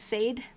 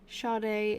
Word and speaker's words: Sade: Sade is the singer's pronunciation, I think. Okay, cool. Sade.